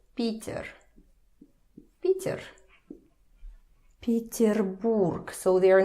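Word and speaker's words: Петербург: city so incredibly beautiful so stress first let's put stress here again let's remember the previous rules you don't say These are not stressed. So they turn a little bit quieter. They turn to E. E. Peter Borg.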